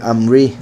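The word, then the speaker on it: עמרי: Y al final de eso se le quita y entra Omri, que sería el significado del nombre, si no me equivoco, mi dicho. Vamos a ver. Aquí es con Ayin, entonces dice Amri.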